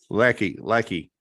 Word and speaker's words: Lecky: And doctor, is it am I pronouncing that with a long E or a leaky? Lecky. Okay, that's I didn't know if we were long E or short E on that thing.